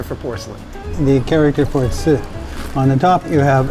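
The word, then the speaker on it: 瓷: The character for tsi. On the top, you have a character that is pronounced tsi.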